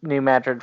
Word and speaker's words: New Madrid: a town in Missouri not named after uh the city in Spain right a lot of